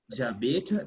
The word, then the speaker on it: j'habite: So we say j'habite because the H is silent.